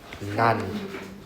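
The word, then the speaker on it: 何: So, she said nani, right? Actually, this is pronounced as none.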